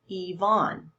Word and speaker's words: Yvonne: syllable so for example the name yvonne okay the y sounds like an e sylvia larry all three